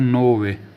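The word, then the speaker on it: nove: है दोस्तों न न को बोला जाता है नोवे नोवे नोवे उसके बाद दोस्तों 10 10 को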